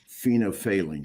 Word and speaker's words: phenolphthalein: You indicated that when you use the phenolphthalein, did I pronounce that right?